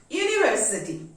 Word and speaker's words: university: A university. Here U is a vowel, but the sound of U is Y.